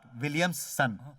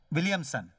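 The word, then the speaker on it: Williamson: नॉट विलियम्स सन, विलियमसन।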